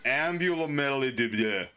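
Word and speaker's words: Ambulomelides: I can never pronounce this guy's name. It's Ambulamelidibia.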